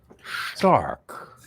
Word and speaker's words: Stark: Stark. Well, I'm saying it Stark because I'm saying it the German way to pronounce it.